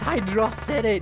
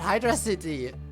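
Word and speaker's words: Hydrocity: It's pronounced hydro city, not hydraity.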